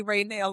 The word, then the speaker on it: Ranelle: Chelsea, and I play Ranelle on Mad Millennial. Thank you for telling me how to pronounce that.